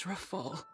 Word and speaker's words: Rafal: My name is Rafal.